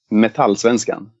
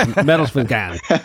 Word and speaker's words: Metallsvenskan: It's Metalsvenskan. Am I pronouncing that right? In Sweden, we say Metallsvenskan. Okay. Well, I fucked it up. I give it to you the American version. It's Metalsvenskan.